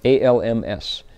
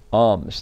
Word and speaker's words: alms: So this monk is preparing to go out to get alms, A-L-M-S, alms. The L is silent, right?